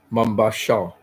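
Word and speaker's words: Mombasa: the premieres they have some problem sound like mambasa mambasa okay mambasa okay thank you Chona thank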